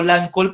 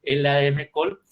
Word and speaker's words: LADM-COL: Yo le digo LAN-Col, pero ya me regañaron porque así no se dice. Entonces, LADM Col.